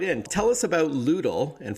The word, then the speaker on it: Lewdle: in tell us about ludl and for our listeners it's spelled l-e-w-d like lewd l-e tell us all about